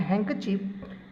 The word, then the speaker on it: handkerchief: The words mischief and handkerchief have the short I sound.